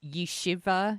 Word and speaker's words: Yeshiva: to a research project at, I think it's pronounced Yeshiva University.